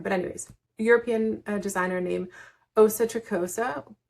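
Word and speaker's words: Åsa Tricosa: I'm not sure if she's from there, but anyways, European designer named Asa Tricosa. It's spelled ASA, but with the umlaut on the top. So Asa Tricosa instead of Asa Tricosa.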